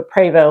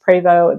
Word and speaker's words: Prevost: dollar plus I know the preo which looks like Prevost if you see that going down the road that's pronounced preo the preo bus last